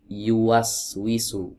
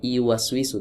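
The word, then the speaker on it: يُوَسْوِسُ: Yuas wisu bukan bukan I bukan iu waswisu. Bukan iwisu tapi yuas wisu pakai huruf Y.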